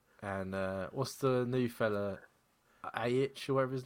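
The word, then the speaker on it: Aitch: So that's not how you say that, is it? Yeah, H. Yeah, That's not how he spells it. The tit. it's spelled H in like the letter H.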